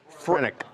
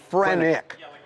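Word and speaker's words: phrenic: Edward, give me the pronunciation again. The nerve frenic frenic.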